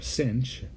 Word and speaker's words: sinh: over 2 and similarly hyperbolic sine or a sinch of a t is e to the a